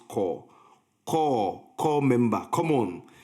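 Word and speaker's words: coup: You more than anybody in this film should have known that cop is a French word and is therefore pronounced core.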